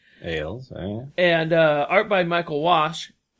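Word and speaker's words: Ales: His name is spelled A-L-E-S. Ailes, And art by Michael Walsh.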